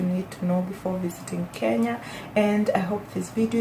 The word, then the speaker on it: Kenya: So the first thing you need to know about Kenya is that the pronunciation is Kenya.